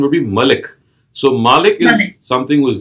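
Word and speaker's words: مالك: is malik i believe so the the correct pronunciation would be malik so malik is something was the owner is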